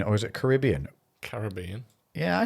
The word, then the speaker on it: Caribbean: Now, is it Caribbean or is it Caribbean?